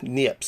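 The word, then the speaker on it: Niépce: seen before, the first photograph by Joseph Nicephore Niepce, right? Niepce actually is the way it's pronounced, in 1826.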